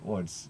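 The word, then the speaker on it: Łódź: born in Lords Poland it's spelled with l-o-d-z but my polish friends havely corrected me at one point to say woods so there it is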